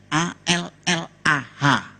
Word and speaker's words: Allah: sama karena dia terkecoh dengan katanya tulisannya a l l a h orang Arab cuma Dia membacanya mejanya beda sama kita kalau kita cukup Allah gitu kayak bercanda ama teman bacanya itu ringan tapi kalau mereka itu terpengaruh dengan bahasa Arab jadi nggak ringan Allah gitu kayak orang Batak aja